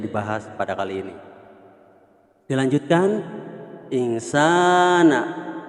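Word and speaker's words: إنسان: Dilanjutkan, insana. Sa bacanya panjang, mad asli atau mad tabi'i, fi ahsani taqwim.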